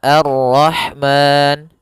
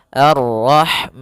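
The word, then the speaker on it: الرحمن: Kita boleh memanjangkan dua harakat pada lafal ma. Boleh juga empat harakat dan boleh pula enam harakat. Maka arrahman dua harakat. Arrahman empat harakat. Arrahman 6 harakat.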